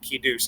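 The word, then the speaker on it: קידוש: use that pronunciation the proper israeli or sephardic pronunciation of kidush i said okay it's time for kidush and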